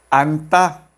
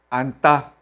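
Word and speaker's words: 앉다: Se pronuncia solamente la primera consonante. N. Anta. Anta, que significa sentarse.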